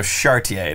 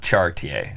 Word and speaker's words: Chartier: there you go okay so Chartier not chart ta Chartier okay that's the first one